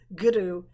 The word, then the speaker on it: guru: but it's actually well it is a rolled European R but it actually sits back on the tongue goodu so that you're taking